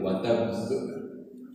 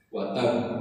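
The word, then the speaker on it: وَتَبَّ: Bacanya harus begitu ya Pak. Wa tabb. Karena ada tasydid, berhenti di huruf ba, ke tasydid, berhenti qalqalah kubro pisan. Wa tabb, harus begitu.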